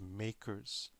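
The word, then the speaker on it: MACRS: called modified accelerated cost recovery system or it's pronounced makers I remember before this modify we had just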